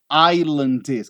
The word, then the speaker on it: island: é que fala ó Desert Island nada de island nada de island a gente não pronuncia aquele S ali tá Desert Island discs